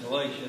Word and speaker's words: Galatia: We pronounce that Galatia, don't we?